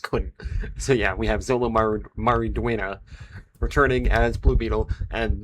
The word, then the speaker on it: Xolo Maridueña: But yes, we have Man of Tomorrow continues to grow its cast with Xolo Maridueña. That is how you pronounce his name.